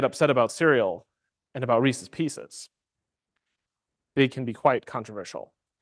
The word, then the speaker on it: Reese's Pieces: for the the conviction that it's pronounced Reese's Pieces not Reese's Pieces because you know you have to make it rhyme so silly convictions but